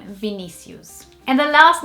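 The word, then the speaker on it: Vinícius: And in here, we'd probably say Vinicius, which is not that like much different to Vinicius.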